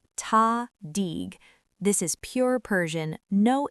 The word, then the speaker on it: tahdig: Pronunciation, tahdig.